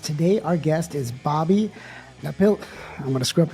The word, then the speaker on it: Napiltonia: Napoltonia. Napoltonia.